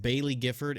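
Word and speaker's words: Baillie Gifford: This morning, Nio released an SEC filing from, I believe it's pronounced Bailey Gifford and Co.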